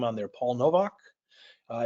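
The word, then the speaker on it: Nowak: name on there Paul Novak uh it's pronounced Novak like a V there but spelled with a W uh you can also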